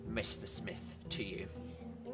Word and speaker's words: Smith: By the way, it's pronounced Smith, not Smythe.